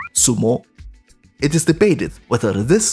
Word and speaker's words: sumo: As it turned out, Yan Qing was quite proficient in wrestling and won a Xiangpu contest, pronounced in Japanese as sumo.